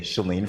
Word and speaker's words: Sheelene: pronunciation correct before, but our lovely guest says that most people get it wrong, even though this is phonetically correct. So I'll just say Sheelene from now on.